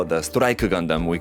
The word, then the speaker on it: Gundam: pronunciation for that word gandam but like I said before if you actually read the Katakana pronunciation for it it's actually gandamu so I think what